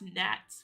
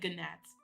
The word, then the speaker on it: gnats: I didn't know how to pronounce gnats when I was younger. So, I just said ganats.